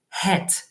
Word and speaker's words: het: little note about pronunciation make sure to blow out a bit of air to pronounce that H. There are many languages where the H is silent, but in the in Dutch it's not silent.